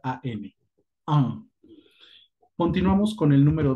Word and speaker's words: un: Pero en francés no lo hagan así, hágalo sin mover la lengua. Eso es un sonido nasal. Es como si tuvieras gripa, ¿no? Entonces, mucho ojo, haz la pronunciación, no muevas la lengua y pronuncia AN.